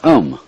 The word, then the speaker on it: Om: That sound is used because if you spell it out, A-U-M, it runs from the back of your throat to your lips, and therefore it contains the whole range of the voice.